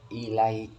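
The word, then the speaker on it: إليك: Itu maksudnya ahsanallahu ilaika. Bahasa Arab kalau terakhir kan mati. Ka kan terakhir mati. Kanya mati menjadi ilaik. Aslinya tulisannya ilaika, cuma dibacanya ilaik.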